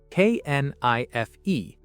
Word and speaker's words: knife: For example, the word knife, K-N-I-F-E. The K is silent. You say knife.